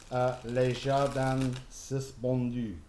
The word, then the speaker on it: Les Jardins Suspendus: Les Jardins Suspendus. See, I've learned to say it properly now because my French friend is here.